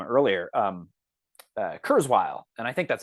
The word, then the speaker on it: Kurzweil: Kurzweil, and I think that's how it's pronounced. It's like Kurzweil.